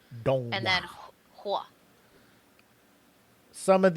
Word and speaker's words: Donghua: D-O-N-G, and the O has like a line over it, so it's Dong. Donghua.